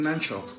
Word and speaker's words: Nanchop: Nanchop. It's Mr. Nanchop with a P at the end.